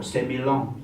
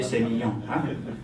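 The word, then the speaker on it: Sémillon: So that's why a lot of people coming from Australia say, oh, semi-long, very nice semi-long. Actually, the French will say semi-long.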